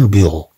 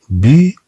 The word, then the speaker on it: bureau: C'est un bureau, bureau. Ro, ro. E, A, U se prononce O.